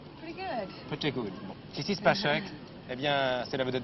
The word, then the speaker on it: Sissy Spacek: Alors, je ne présente pas aux téléspectateurs mademoiselle Sissi Spacek. The good pronunciation? Pretty good. Pretty good. Bon. Sissi Spacek, eh bien, c'est la vedette de Carrie, c'est